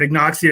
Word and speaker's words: Agnoxia: to actually pronounce it but ignoxia is the what i decided to to that sounds good so i decided that that's going to be the way it's pronounced it was between that